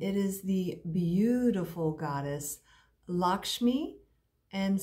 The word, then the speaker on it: Lakshmi: And it is the beautiful goddess Lakshmi, and some pronounce her Lakshmiye, depending on your dialect, if you are familiar with any of the Hindu texts.